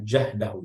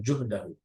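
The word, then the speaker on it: جهده: Bi fathil jim, ini dibacanya jahdahu, ya, bukan juhdahu.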